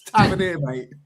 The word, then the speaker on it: Tavernier: Someone was saying that for about 20 minutes, and I went, it's Tavernier, mate. Tavernier. All's out to Tavernier. Oh, my God. Well, it is spelled that way, but it's just not said that way.